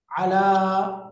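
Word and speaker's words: على: উপরে আলা, একটু বলেন তো, আলা আলা উপরে আছে, তাহলে উচ্চারণটা আলা। আলা আলা, আলা আলা মানে আলা উপরে এবার আরেকটা শব্দ যায় থেকে বা হতে, এটার আরবি হলো মিন।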